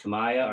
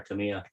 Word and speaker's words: Tamiya: to know is it is it pronounced tamaya or tamiya i thought it's tamiya it's a japanese no matter how